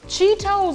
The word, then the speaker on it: Cheetos: But the Cheetos is already hot.